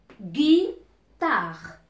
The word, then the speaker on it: guitare: Pour prononcer le son G, je dois ajouter le U entre G et I.